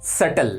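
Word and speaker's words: subtle: क्या है particular nice तो ये नीचे नहीं पढ़ा जाता है ये बड़ा जाएगा सेटल इसमें 20 साइलेंट होता है सेटल का मतलब होता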